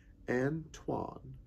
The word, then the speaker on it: Antoine: My name, in case you wouldn't know, is pronounced Antoine.